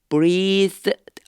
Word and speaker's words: breath: 그렇게 말씀하시고서 he breath on them. 요게요.요 단어가요. breath요 발음이 되게 우리나라 사람들은 좀 어려워요. 혀를 살짝 깨무으면서요.